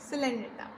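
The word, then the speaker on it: Coelenterata: ये इसकी प्रोनाउंसिएशन है, क्या था, इसको हमने ट्रिक में क्या बोला था, दैट इज़ कॉलेंड्रेटा, एंड इसको हमने क्या बोला था, सिटेनोफोरा, बट इसको हम क्या बोलते हैं, टीनोफोरा एंड सिलेंड्रेटा।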